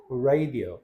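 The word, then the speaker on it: radio: 레디오 레디오 레이디오 레디오 울을 살짝 넣어 주시면 조금 고급쳐죠.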